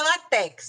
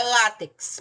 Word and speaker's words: látex: tenho aqui ó lá não é latex tá pessoal é látex para quem não sabe aquela borracha tirada da seringueira aquele líquido desculpa tirado da seringueira para fazer borracha então látex látex é uma paroxítona terminada em x portanto a sílaba tônica é o lá e eu coloco o assento Então vão acentuando aí